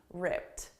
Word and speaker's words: ripped: not optional okay so the pronunciation is with a soft T ripped so you can definitely